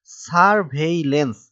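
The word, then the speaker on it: surveillance: যাক আমাদের প্রথম প্রশ্নটি হচ্ছে সার্ভেলেন্স শব্দটি ইংরেজিতে বানান করো এবং শব্দটির বাংলা অর্থ বলো এর উত্তর হচ্ছে সার্ভেইলেন্স এই শব্দটির ইংরেজি বানান হবে এস ইউ আর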